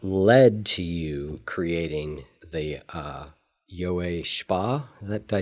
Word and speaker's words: Yowei Shaw: But what we're going to talk about is what led to you creating the Yowei Shaw. Did I say it right? Yowei Shaw.